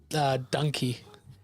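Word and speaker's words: dankie: To say thank you, you say donkey. Donkey. Thank you, or thank you very much, which is buy a donkey, or or to say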